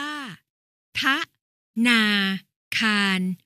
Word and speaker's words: ธนาคาร: ได้ ตาม กฎ หมาย ธนาคาร อ่าน ว่า พระ ธนา อาคาร หมาย ถึง สถาน ที่